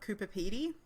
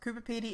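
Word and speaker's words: Coober Pedy: uh are you surely with the town of Cooper Petey very familiar and it's definitely one of the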